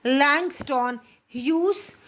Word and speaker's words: Langston Hughes: Please pronounce it in a better manner. Langston Hughes.